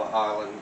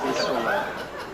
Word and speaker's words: Isola: Isola dell'Alba, the Alba Island where Napoleon Bonaparte was exiled for the remainder of his life. It's not pronounced Alba, it's Alba, okay? And it's not pronounced Isla, it's pronounced Isola.